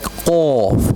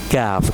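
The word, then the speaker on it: قاف: We will make it bold like qaf. We will not read kaf. It is qaf. Open your full mouth and read qaf.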